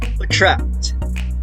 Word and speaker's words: attract: try to notice attract the stress is on track right so which is why you put the stress symbol before t because it's the starting point of creating the stress so attract that's how you say it okay remember also